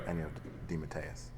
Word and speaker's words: DeMatteis: But the last name is the official Italian pronunciation is DeMatteis. It got Americanized and squashed into DeMatteis, which is kind of how it was when I was a kid. It was always DeMatteis. And but my father always used to say, but it's really pronounced DeMatteis. And as I got older, I thought, the Italian pronunciation is so much nicer.